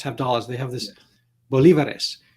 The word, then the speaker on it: bolívares: dollars they have this bolivares which I pronounced bolivares but they like they say the accents on the eye yes um so so